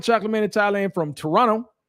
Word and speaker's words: Toronto: man and thailand from toronto i just learned that recently that you don't pronounce the t i didn't know that so toronto canada what's going on